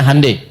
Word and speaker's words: Hyundai: bikin Hyundai ya ya Hyundai saya tahu bahasanya dibacanya hundai ya Apa saja Jepang